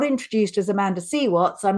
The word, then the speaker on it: Amanda C. Watts: It's like, no, you've got my name wrong. It's Amanda Seaw Watts.